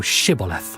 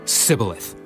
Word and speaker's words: Shibboleth: If he said, Nay, then said they unto him, Say now Shibboleth. and he said, Sibboleth. for he could not frame to pronounce it right.